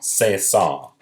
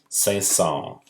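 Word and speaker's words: Saint-Saëns: read all about this his name is Camille say song say song this is how you spell that as well alright Camille say song is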